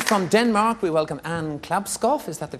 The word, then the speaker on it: Klabskov: And from Denmark, we welcome Anne Klabskov. Is that the correct pronunciation? No, certainly not. Glasgow. It's an Glasgow, almost Okay, like as in Glasgow. Yes. Glasgow, not bad.